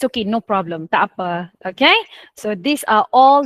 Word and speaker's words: tak apa: How to say the informal version? Tak apa. Tak apa. Okay, so that's how you pronounce it.